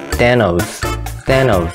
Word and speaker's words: Thanos: 라고 했는데요, 한국말로는 타노스라고 하지만 영어로 발음할 때는 Thanos 라고 합니다.